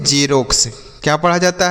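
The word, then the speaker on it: Xerox: तो क्या हम इसे एक्स रोक्स से पढ़ेंगे? ऐसे कुछ पड़ेंगे? नहीं पढ़ने पर ध्यान दीजिएगा उसके बाद फिर मीनिंग पर ध्यान दीजिएगा। ठीक है बच्चों? तो देखिए एक्स ई आर ओ एक्स तो इसे हम पढ़ते हैं बच्चों झेरॉक्स।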